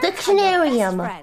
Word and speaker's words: Dictionarium: She's just trying to pronounce the word. Hi there. There we go. Oh goodness. Dictionarium. It's called Dictionarium, IRyS.